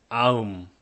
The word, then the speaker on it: 아음: In Goryeo language, which is a later dynasty a few hundred years later than Goguryeo, it was pronounced as aum.